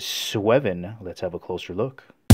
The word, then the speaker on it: Sweven: I believe the pronunciation is Sweven.